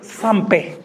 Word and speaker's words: Sampé: Donc ce texte s'appelle Sampé, S-M-P, accent aigu, qui est la prononciation déformée de sans père.